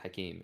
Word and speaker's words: Hakim: My name, I write it Hakim, but I pronounce it Hakeem. In Arabic, it's only Hakeem, though.